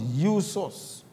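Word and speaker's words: Ἰησοῦς: When the name was written in Greek, it became Isos, pronounced Iusos, and also means Yahweh saves.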